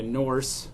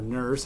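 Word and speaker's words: Nourse: I mentioned in that video Victoria Norse, or Nurse, I've heard it pronounced both ways.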